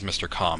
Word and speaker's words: Mr. Calm: Calm's hand copied and pasted, which, for the record, this guy's the pronunciation that I had in mind for his name is Mr. Calm, because he's calm and collected, and also kind of